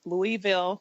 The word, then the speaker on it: Louisville: I grew up loving the Louisville Cardinals. We call it Louisville. I guess we get lazy with how we pronounce our city, but I've always followed